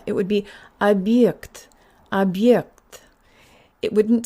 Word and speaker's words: объект: It's not ab, it's ab. And this also means that the y sound in yikt is very prominent. So this word sounds like this. Ab yikt. It's not ye with like in yes. Put your tongue higher and put more air through.